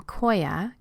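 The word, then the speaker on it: Qoya: that I learned from Koya which is spelled Q Oya which is a movement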